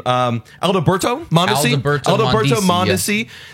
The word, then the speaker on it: Mondesi: Alberto Mondesi.